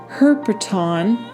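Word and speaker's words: ἑρπετόν: That Greek word in the Hebrew lexicon is pronounced herpeton, and the meaning of that Greek word is a serpent, a reptile, a small animal creeping thing, and to marine animals.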